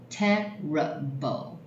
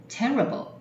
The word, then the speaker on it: terrible: 第一个 ,terrible, 三个音节，字尾一打叉没有发音 ,terrible, terrible, 糟糕的。